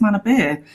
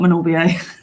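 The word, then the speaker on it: Manorbier: from other weal friends were like no it's Mana beer so yeah it's not Mania yeah I've been pronouncing it wrong for years yeah me too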